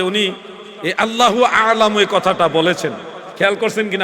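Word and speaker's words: الله أعلم: আল্লাহর ক্ষেত্রে উচ্চারণ হবে আল্লাহু আলামু।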